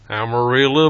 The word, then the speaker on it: Amarillo: come say it right, Amarillo by morning. Okay, Amarillo. That's how we say it in Espanol. It's amarillo. It means yellow.